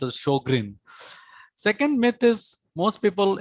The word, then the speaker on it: Sjogren's: and they told that this is how sj is pronounced like sh so this is how sjogren's should be pronounced as shogrin second myth is most